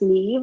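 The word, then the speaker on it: Niamh: It's pronounced Neve, or rhymes with Steve. Gaelic names are difficult. And so in a way, it's a good moniker. It's a good way to remember my name, but it is difficult, and I realize that. So MH is a V sound in Gaelic, and Neve is the way it's pronounced.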